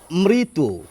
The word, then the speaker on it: মৃত: এবার আমরা আরেকটি শব্দ দেখি দেখুন আমি বললাম মৃত এই যে শব্দটি এখানেও কিন্তু রফলা হসইকারের মত উচ্চারণ হবে এই ঋয়ের আমি যদি এই শব্দটির